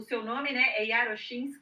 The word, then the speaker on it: Iarochinski: é muito bacana certo o seu nome aí arashin e já já eu vou colocar aqui o seu blog falei corretamente a pronúncia da segunda vez sim isso você fala